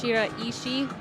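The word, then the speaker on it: Shiraishi: Ashima Shira is which is how we have discovered is how her last name is actually pronounced.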